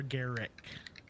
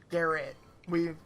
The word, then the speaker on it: Garrett: Is it Garrett or Garrick? Garrett. I fucked up. Yeah, I don't know. Yeah, it's just Garrett. I think I messed up last week and got like the bear in the Like, can we spell it? Garrett. Okay, just making sure. Yeah, it's just simply Garrett. I'll just put Garrett, aka not Garrett, not Gary, not.